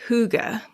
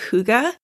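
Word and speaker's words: hygge: living so the very last one is holy Huga it's spelled h y g g e it is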